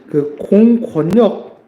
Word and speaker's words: 공권력: 여기서 공권력 이런 말 한번 볼게요. 공권력 이거 어떻게 발음하냐면 공권력이라고 발음합니다. 자, 여기서 특이한 점이 뭔가요? 니은과 리을이 만나는데 유음화가 되지 않았다.